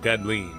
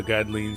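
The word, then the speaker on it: Gdleen: Yep, I'm going to pronounce it Godlin since that's what the Japanese pronunciation seems to suggest.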